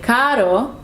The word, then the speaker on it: caro: but if you say caro, means expensive. The only difference is that one has double R, one has one R, but they mean different things. So you have to pronounce it correctly.